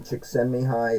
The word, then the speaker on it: Csikszentmihalyi: And the name Csikszentmihalyi is spelled with way too many vowels, C's and Z's.